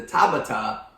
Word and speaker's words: Tabata: But the ones that did the Tabata increased aerobic and anaerobic. Correct. Did I say it right? Yep, 100%. I said it right.